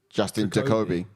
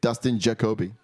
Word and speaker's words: Dustin Jacoby: like sort of yeah you've got his name wrong every time dust into Kobe you said Justin uh Justin Jacoby Dustin Jacoby by the way